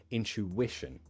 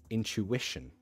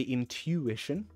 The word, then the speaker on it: intuition: the stress comes here intuition intuition uh this sounds like a cha cha into intuition intuition uh some people might say intuition i don't but that's